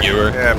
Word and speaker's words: Gewehr: What's the pronunciation? Viewer. Gewehr? Gewehr.